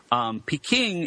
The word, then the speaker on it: Peking: that's really not true Peking is how you say the name of the city in some mainly southern dialects Cantonese Beijing is the Mandarin way to say it same with Nanchang and